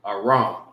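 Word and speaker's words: ארם: And this is how you say it in the Hebrew, Aram.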